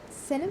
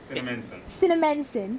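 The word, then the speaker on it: Cinnaminson: I cannot pronounce the city in New Jersey. It's really, but Cinnamon. Wow. Cinnamonson, thank you.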